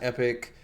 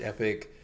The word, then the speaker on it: Epoch: yourself it's literally last epic it's like people call it last Epoch but if you put in Epoch into Google pronunciations it's apparently supposed to be read as Epic I guess that I